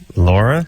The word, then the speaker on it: Lara: L A R A Lara mhm oh boy guess how they pronounce it Laura Lara oh boy so uh T